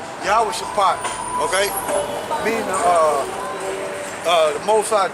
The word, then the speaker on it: YAHAWASHI: How you pronounce it in Hebrew is YAHAWASHI, okay? Meaning the Most High judgment. That's what it means, judgment. YAHAWASHI.